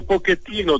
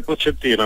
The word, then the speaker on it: Pochettino: Io dico Pochettino, tu hai detto giustamente Pochettino, ma sai, Pochettino è di origine italiana, quindi io sono, come dire, legato al suo cognome pronunciato, certo, in italiano, anche se so che naturalmente è corretto come tu l'hai pronunciato.